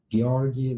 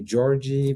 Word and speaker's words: Georgi: It is Georgi, and Georgi like Lady Gaga, so a hard G. Many people call me Georgie, but I prefer to be called George. George, okay, well, there you go.